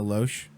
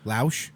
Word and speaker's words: Loesch: So remember when Sheriff Israel was screaming at Dana Loesch? Yes. Wait, can we pronounce it like Ben Shapiro? Sure. Loesch.